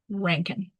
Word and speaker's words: Rankin: Um yes, his name is apparently pronounced Ranken.